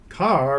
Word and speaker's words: Kerr: Carr rhymes with star.